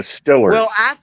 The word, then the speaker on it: Steelers: pittsburgh roots for the steelers nobody they root for the stillers that's how they pronounce it pittsburgh steelers and robert